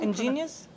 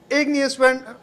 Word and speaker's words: Igneous: How do you pronounce- Ingenious? Ingenious? No, no. You're just flipping the N and G. Igneous Anyway, what a lovely name.